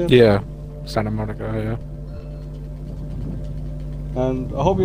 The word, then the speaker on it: Santa Monica: Santa Monica, yeah.